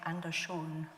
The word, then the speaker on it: Andersson: Anderson, or perhaps I should say Andersson. My Swedish isn't very good, but that's how it's said there.